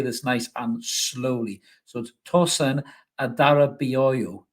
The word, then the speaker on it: Tosin Adarabioyo: nice and slowly so tosen Adara booo is how you pronounce it apparently hopefully I got